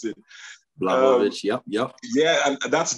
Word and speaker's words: Blachowicz: I hope I got his surname right, because it's been a nightmare trying to figure out how to pronounce it. Blachowicz, yep.